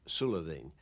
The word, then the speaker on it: Suilven: try and stop us it will be pronounced in garlic sullivan i am told that